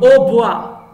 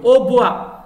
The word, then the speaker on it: hautbois: modeste qui n'est pas modeste orgueilleux autant le hautbois le mot bois attention le cobalt et ne se prononce pas le hautbois leur bois c'est un instrument de musique facile